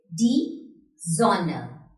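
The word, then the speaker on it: die Sonne: यहाँ पर दो consonants, double N is after O. That means O का sound short हो जाएगा. तो कैसे प्रोनाउंस करेंगे इसे? डी जोनर.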